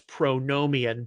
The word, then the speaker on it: pronomian: Some of you are more familiar with it as pronomian, but I was always taught Nomos is with a short O. Bill Patrick, Asbury Seminary, said you pronounce the Omicron as an A sound, not an O sound. Okay, so that's why I say pronomian.